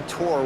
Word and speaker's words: Thor: But I feel like saying no, my name's actually tour when it's spelled out as Thor.